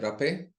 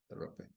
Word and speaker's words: rapé: and rape, also hape, depends Mm-hmm. how you pronounce that. It's just easier to say rape, so we use rape. we say rapé.